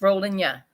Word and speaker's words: Rollinia: It's rolling ya. Mm-hmm. Rolling ya. Rollinia. Rolling ya. Like you're saying Slovenia, but it's Right.